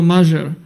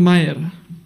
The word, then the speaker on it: Majer: people, when I came here, people, even today, they say my name like Mažar. It sounds good for me, but it's not like that. It's Mayer.